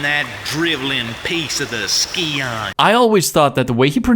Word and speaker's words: Scion: word he doesn't understand but he's right it's skeon not scion so shame on me